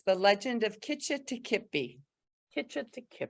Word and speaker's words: Kitch-iti-kipi: it the right way it's the legend of kitchen to kipi Kitchen not what I was saying I had